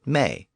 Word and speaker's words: me: In fact, it was usually spelled M-E in Old English, just like we do today. The Anglo-Saxons pronounced it may, so the vowel shifts changed it to modern me.